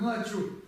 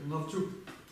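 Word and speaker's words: ལྔ་བཅུ: Должно читаться как начу. Читается навчу.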